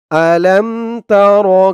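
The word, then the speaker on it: أَلَمْ تَرَ: বলে মুখস্ত করে নিবেন তো বলুন আমার সাথে আলামতার হামজাহ জবর আ লাম মিম জবর লাম আলাম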